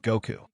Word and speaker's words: Goku: The number five in Japanese is pronounced go, and the number nine is pronounced ku. So, put them together and you get Goku.